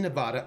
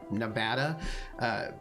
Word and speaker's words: Nevada: But I do know it's a thing that like if you're like a politician or whatever and you're like going to go to Nevada, and you call it Nevada, then like no one will vote for you or whatever.